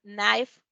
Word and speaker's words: knife: Pero esa K no se pronuncia. Cuando tenemos una K y una N, normalmente la K no se pronuncia. Entonces, por ejemplo, new, know, known, todas esas que empiezan con una K, knife, la K no suena.